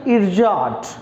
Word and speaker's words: ersatz: What is the pronunciation? इरजाट, like ERSATZ, that's pronounce as इरजाट।